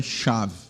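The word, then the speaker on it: שָׁוְא: Bem, a palavra no original, irmãos, é chave. Mais ou menos essa pronúncia. Se escreve, transliterando para a gente, S-H-A-V.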